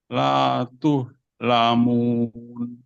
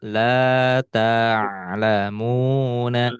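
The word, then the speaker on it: لا تعلمون: Dilihat lagi huruf-hurufnya. Harokatnya. La, la tuh lamun. Nah, di sini huruf harokat fat. Wah, Nah, maka dibacanya la ta'lamuna.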